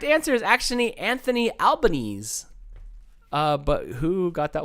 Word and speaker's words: Albanese: got it right Adele because you pronounce the e at the end of Albanese no no she also